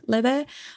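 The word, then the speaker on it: Laufey: I think Lebe. I think she's from the UK or Northern Europe.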